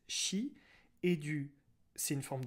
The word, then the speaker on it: chi: en forme du alors c'est une forme de x mais ça se prononce chi et du c'est une